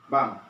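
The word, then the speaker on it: 晩: Walaupun tulisannya ban, tapi dilafalkan bam.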